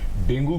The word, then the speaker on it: डेंगू: Pronunciation की बात है, कुछ लोग डेंगू बोलते हैं, कुछ लोग डेंगू बोलते हैं, कुछ लोग डेंगू बोलते हैं। मगर अगर आप वेबस्टर की डिक्शनरी में देखें तो जो अगर प्रोनाउंसिएशन करेक्ट है वो डेंगू है।